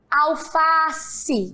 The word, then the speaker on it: alface: Qual foi a palavra que mais foi esticada? Já sabem? Muito bem, o Fá. Olha só, alface.